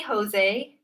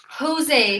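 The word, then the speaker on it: José: So for me, this would be pronounced Jose rather than Jose. You would say ha for this J. Maybe in Latin American Spanish you would say ja. I'm not sure though.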